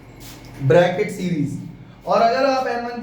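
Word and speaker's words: Brackett: इसको बोलते हैं ब्रैकेट। बी आर ए सी के E double T ब्रैकेट series और अगर आप N1 की जगह फाइव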